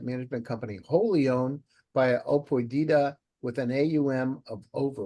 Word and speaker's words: Apoidia: Apoidia, that's right.